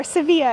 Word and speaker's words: Sevilla: Welcome to Seville, or Sevilla as the locals say.